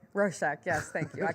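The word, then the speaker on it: Rorschach: roest test I can never say it right rosek yes thank you I call it the sauce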